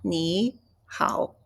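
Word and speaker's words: nǐ hǎo: So, normally, when we have a two third tones, and you change the pronunciation the first one to second tone. So, it's ni hao.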